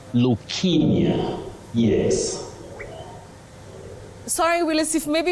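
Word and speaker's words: leukaemia: Betty, you say leukemia, not leukemia, not leukemia. You say leukemia, yes. Sorry, Willice, if maybe you could just repeat that again. Leukemia, not leukemia.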